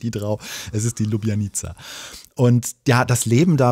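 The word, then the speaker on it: Ljubljanica: fließenden Fluss das ist die lubianiza wie ich gelernt habe so spricht man das aus und ich dachte nämlich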